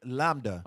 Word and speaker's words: lambda: Okay, so just for time's sake, so lambda actually is a Greek word, and it makes the V sound.